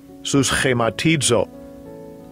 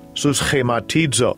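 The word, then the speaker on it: συσχηματίζω: And the Strong's G, the pronunciation. Strong's G 4964. Suschematizo. Suschematizo.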